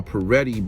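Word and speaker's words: Pareto: was found founded by peretti but the way that he found and is not spelled like how it sounds it's spelled p-a-r-e-t-t-o peretti's principle but the way that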